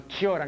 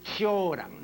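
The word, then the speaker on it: Cioran: eh zoran se escribe zoran pero no se pronuncia zoran sino choran el otro día en San Marcos en una conferencia estaba entre las personas concurrentes mijael radu no y le oí decir choran no efectivamente se pronuncia así yo recuerdo además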